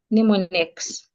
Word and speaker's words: mnemonic: Letter M is silent when we have N after it sometimes, as in the word mnemonics. Mnemonic. We say that the letter M is silent, the first letter M, mnemonic.